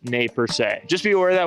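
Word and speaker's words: Nez Perce: it's pronounced Grant or Nez purse and it's actually pronounced nay per just be aware of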